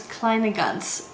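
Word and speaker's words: Kleine Ganz: So my username is Kleine Gans, is the proper pronunciation.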